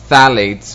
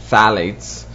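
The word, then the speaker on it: phthalates: the other one is phalates which is uh spelled with a p phalates and um where are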